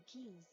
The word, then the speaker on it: quays: All others must go to the Keys. I wonder why they pronounce quays keys.